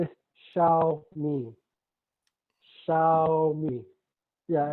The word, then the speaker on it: Xiaomi: Yes, XIOMI I yes, is how to pronounce that. Okay. Xiao, This is Xiaomi. Xiaomi.